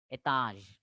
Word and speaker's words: étage: Etaj, etaj. Z is jaw sound, etaj, etaj.